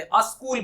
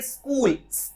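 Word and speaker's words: school: कहते ही नहीं करते, अस्कूल बोलते हैं वो, अस्कूल। इनकरेक्ट प्रोनाउंसिएशन, अस्कूल होता ही नहीं है, आपको कहना चाहिए स्कूल, ऐसा आधा स और क, ऐसा प्रोनाउंस होना चाहिए, स्कूल, ना कि अस्कूल।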